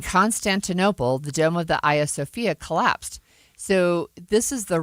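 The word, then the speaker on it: Hagia Sophia: It looks It starts with an H, but it's pronounced Aya Sophia.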